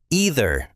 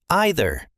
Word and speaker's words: either: I hear some people say either and some say either. Both are completely correct in standard American English.